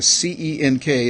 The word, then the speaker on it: Cenk: That's the C-E-N-K. It's pronounced Cenk because he's Turkish.